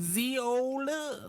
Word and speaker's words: Zola: Like Zola. Z-O-L-A. It rhymes with areola.